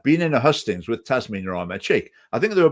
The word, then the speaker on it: Tasmina: that David Coburn had deliberately mispronounced her name repeatedly through this hustings, and he kept calling her Trashmina and other variations on the name. And Tasmina corrected him.